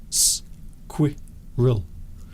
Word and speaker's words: squirrel: So I would say that it was 2 syllables, but if you wanted to be really fussy and pedantic, it could be 3.